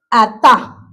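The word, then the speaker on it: עתה: En el hebreo dice que se se dice o se escribe ata.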